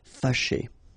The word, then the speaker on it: fâché: Fâché. Okay, so remember that here, even if you've got this accent circonflexe on the top of A, well, technically it doesn't really change the pronunciation. Fâché.